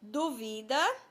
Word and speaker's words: duvida: As palavras são duvida e dúvida, ó, bem parecidas. A diferença é quanto à sílaba tônica.